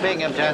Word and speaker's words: Binghamton: That's Binghamton. There's no P in that. The accent is on the Bing.